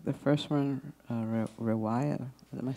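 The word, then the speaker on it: رواية: Like the first one, riwaya.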